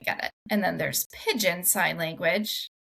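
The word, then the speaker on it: pidgin: And then there's pigeon sign language, which is not spelled like the animal, said like the animal.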